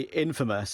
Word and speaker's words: infamous: Isn't it funny how you say famous, but when you say infamous, it's pronounced that way?